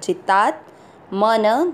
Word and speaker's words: जितात्मनः: पहला चरण जी ता के साथ आधा त जितात मन, दोनों अक्षर पूरे दोनों में अ मिक्स करेंगे।